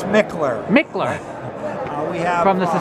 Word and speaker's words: Mickler: Down south they say Mickler, but it's Mickler.